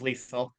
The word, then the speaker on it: Liesel: Like her name's Liesel, rhymes with diesel. We always have to say that because everybody gets it wrong, even Danny Young.